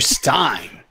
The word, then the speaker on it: Stein: A man who asks and answers the simple question, is it pronounced Dr. Stein or Dr. Steen? Dr. Stein.